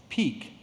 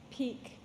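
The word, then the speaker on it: pique: your word is a homonym your word is peak it's a noun that means vexation or anger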